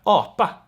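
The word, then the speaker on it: apa: police yeah but then we have oppa it's almost like a bee like almost spanish spanish no but um so no aspiration there and that word means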